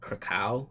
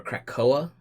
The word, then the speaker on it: Krakoa: But what's cool is it's basically about Xavier setting up an island for mutants called, I think it's Krakow is how you say it, or Krakoa.